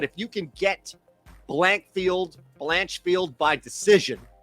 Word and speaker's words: Blanchfield: I of course I don't know how to pronounce um but it's Blankfield blanchfield okay Aaron blanchfield by decision looks like Aaron's